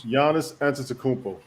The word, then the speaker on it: Giannis Antetokounmpo: Oh, why can't you guys just have names that I can pronounce? Giannis Antetokounmpo.